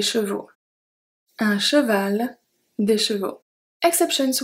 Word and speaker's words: chevaux: When a noun ends with AL, it's going to change to AUX, pronounce O. Un cheval, des chevaux.